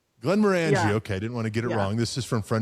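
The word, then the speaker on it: Glenmorangie: Uh this is I don't know how you pronounce this. It's one of the Glenn's. It's a scotch. Uh Glenn Morani. Glenn Morani.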